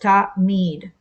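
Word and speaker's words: תמיד: Hebrew root pronounced mead, and as in tamid, or pronounced ta-mead.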